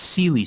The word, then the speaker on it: CLI: cli uh studios uh did i pronounce that uh correctly no but most people don't just like my name it's it's sealy studios yeah so uh you're